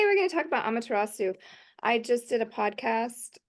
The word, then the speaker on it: Amaterasu: Am I pronouncing that correctly? Yes, Amaterasu. Yes.